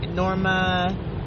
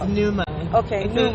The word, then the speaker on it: Numa: or they say Z say Norma it's Numa it's an unusual it's a